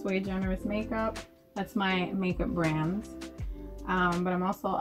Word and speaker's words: SuiGenerisMakeUp: Yeah, it's SuiGenerisMakeUp. It's actually Latin for one of a kind. Latin for one of a kind. Yeah, so it's SuiGenerisMakeUp.